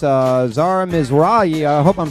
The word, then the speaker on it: Mizrahi: it uh okay you're right it's uh Zara MRA I hope I'm saying your last name right